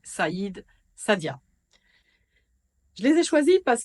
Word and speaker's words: Saïda: Dans la série Magnifiques prénoms arabes, voici le tour des Saïd, Saïda, prononcé Saïd, Sadia.